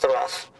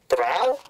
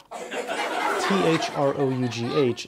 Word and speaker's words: through: One day he cut wood so fast that by 3 o'clock in the afternoon, his day's work was rough. Hold it, Shakespeare. Through? T-H-R-O-U-G-H is pronounced through.